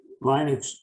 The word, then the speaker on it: Linux: version of linux and i say linux because that's what linus talbot said it's pronounced as linux running one version of